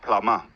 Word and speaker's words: plumber: The R sound is rhotic in American English. Like you always pronounce it. But in British English, especially when the R is at the end of the word, you mostly don't pronounce it in British English, right? The word plumber, We would use the schwa, plumber. plumber.